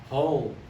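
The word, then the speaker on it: whole: h and last one hole oh the w silent w good job okay everybody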